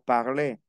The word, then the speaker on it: parle: Alors, entonces veamos aquí, yo elimino las letras que no pronunció. La E final no se pronuncia.